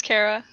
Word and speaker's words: Kara: Is it Karah or Karah, or how do you pronounce it? It's Karah.